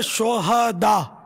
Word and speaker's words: شہداء: یہ صحیح تلفظ ہے شہداء، صحیح، ہاں پر زبر آئے گا. شہید کی جمع ہے شہداء. شہداء ہاں کو ساکن پڑھنا جو ہے نا، یہ اس کے معنی بدل جاتے ہیں.